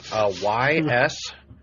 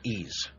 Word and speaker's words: Ys: Well, actually, the only way that I knew how to pronounce it was actually looking at the katakana, and it's like just the E, Yeah.